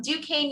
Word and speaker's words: Duquesne: an admissions counselor from duquesne university i know it's a weird french word but that is how we are pronounced i'm an assistant director